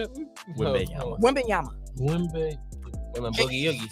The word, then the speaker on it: Wembanyama: Wembanyama. Boogie Oogie. It's once I figured out where the spaces come in between the letters, it was easier to say.